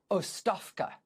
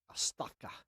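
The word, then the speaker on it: оставка: Um, I do not speak Bulgarian, but I think the pronunciation is Ofka. Oafka.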